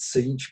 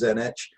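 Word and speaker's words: Tzeentch: war and blood thirstiness one which i will always pronounce wrongly i pronounce it siege but i think it's zenitch is change and ambition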